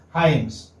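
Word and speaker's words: Hymes: This is pronounced as Hyams. Okay? How will you? Like, this is how. Hyams.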